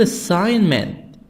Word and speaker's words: assignment: School assignment, G silent.